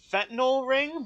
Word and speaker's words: fentanyl: Technically it's pronounced fentanyl ring, but I like saying, I mean, fentanyl?